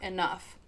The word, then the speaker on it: enough: would pronounce it like an f like in cough or enough.